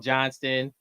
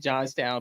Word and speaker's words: Johnstown: Oh man, I was saying Johnston. Sorry to the locals out there in Johnstown, PA.